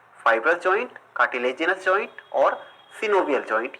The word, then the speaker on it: synovial: कुछ लोग सिनोवियल joint को साइनोवियल जॉइंट भी पढ़ते हैं। वैसे जो करेक्ट प्रोनाउंसिएशन है दोस्तों वो सिनोवियल ही है, लेकिन अगर आप साइनोवियल पढ़ लेते हैं तो इसमें आपको कोई प्रॉब्लम नहीं होने वाली है। दोनों ही एक्सेप्टेबल हैं, सिर्फ आपको समझ में